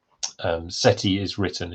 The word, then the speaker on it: Set: those names set um set with an H which we would pronounce as Seth but the Egyptians had no th sound as far as we know so um set with